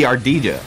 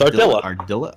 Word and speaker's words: Ardilla: But it could be Ardilla, right? No, it's Ardilla.